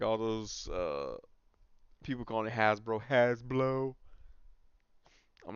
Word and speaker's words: Hasbro: What does has rhyme with? You could have just took off the H.